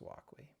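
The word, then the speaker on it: Wokwi: I think it's pronounced Wakwi, but there's variations online.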